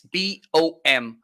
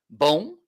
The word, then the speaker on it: bom: We don't finish our words with an N, okay? If it's to sound like that, it's with a M, okay? This, okay, in Spanish it's different, but it's BOM, which means good.